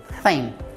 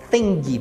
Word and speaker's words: thing: E esse finalzinho, o N com G, esse G ele é levemente pronunciado também. Então não se fala thing, por exemplo. Esse G ele não é tão pronunciado assim, tão enfaticamente. Então a gente fala thin. É como se fosse um N bem prolongado e um G bem sutilmente pronunciado. Então fica thin.